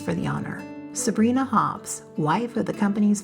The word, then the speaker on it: Sabrina: The canyon narrows, the temperature drops, the trees thicken, and by the time you reach Lake Sabrina, pronounced Sabrina by locals, you're more than 9,000 ft above sea level.